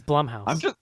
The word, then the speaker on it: Blumhouse: 50 seconds later, it's Blumhouse.